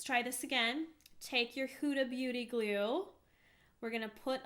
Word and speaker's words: Huda Beauty: Huda Beauty.